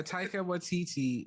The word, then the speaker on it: Taika Waititi: You were the one who telling me how to pronounce it properly. Yeah, Taika Waititi.